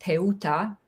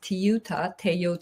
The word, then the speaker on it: Teuta: So in Albanian, my name is pronounced Teuta. American version is Toyota, Toyota.